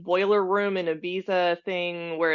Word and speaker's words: Ibiza: And John goes, it's pronounced Ibiza.